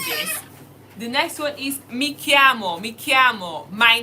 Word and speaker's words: mi chiamo: The next one is mi chiamo, mi chiamo. My name is. Mi chiamo. My name is. And how do we spell that? Mi chiamo, my name is. M-I. That's me, my. M-I. Chiamo.